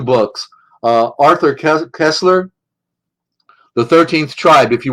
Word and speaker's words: Koestler: Arthur Kessler, it's spelled Koestler, Arthur, Arthur, Arthur Kessler, The 13th Tribe.